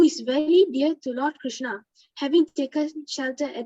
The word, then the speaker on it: Krishna: mantra hari krishna krishna krishna rhymes with drama are sanskrit words hari